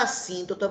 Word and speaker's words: assíntota: Assíntota, com 2 S's e uma palavra proparoxítona, que tem acento aqui na sílaba tônica sim, tá certo?